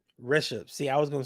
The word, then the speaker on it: Rishabh: Yeah, it's Rishabh. Rishabh. See, I was gonna say Rashid.